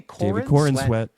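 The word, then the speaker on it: Corenswet: And then we have David Corin sweat. How do you say Corin sweat?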